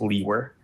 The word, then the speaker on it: Liewer: My last name is spelled Liewer, and it's pronounced Lewer.